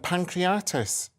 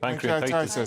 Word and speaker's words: pancreatitis: failure septic shock and pancreatis is that how you say it pancreatitis sorry after taking two low